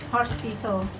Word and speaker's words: hospital: Okay, don't forget the L at the end.